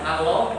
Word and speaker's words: Allah: Ini lidah pertama di sini. Ini langit atas nih ya. Ini gigi. Nah di sini. Coba Allah. Allah. Allah. Allah. Yang beda. Yang ketiga langsung Allah. Allah. Nah begitulah pengucapan Allah yang pas. Tidak di sini. Tidak Allah, tidak Allah, tetapi Allah.